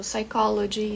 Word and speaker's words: psychology: junção aqui do PS esse p é mudo então por exemplo psychology psychologist é tudo com o p mudo a gente fala direto só o s tá isso acontece também